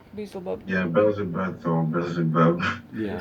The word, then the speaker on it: Beelzebub: And so like I was looking for them, like after like I noticed them, and then like I noticed Beelzebub.